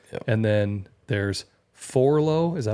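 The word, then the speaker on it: Forloh: And then there's Forlow.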